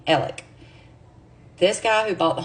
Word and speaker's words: Alex: innocent now I want to be clear you pronounce Murdoch's name Alec this guy who bought the home is Alex a lot of people say Alex Murdoch or Alex murall but it's really ell